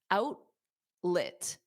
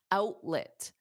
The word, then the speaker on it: outlet: Out because it's a flap T. Outlet. And then lit has that, it's not let at the end, it's lit, outlet, outlet, outlet, outlet.